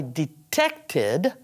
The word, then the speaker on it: detected: So, I detected a problem. It has the id sound because it finishes in a T or a D.